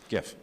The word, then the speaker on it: GIF: pretty simple yeah graphics it's a hard G gift okay this isn't peanut